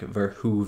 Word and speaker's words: Verhoeven: it's been four movies now i heard someone in the comments said it was like ver hoove and like hoover damn right so i'm just gonna say paul verhoeven i i'm just gonna